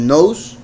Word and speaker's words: knows: Nose es también la pronunciación de la conjugación de el verbo to know, que es saber. Entonces, knows significa él sabe.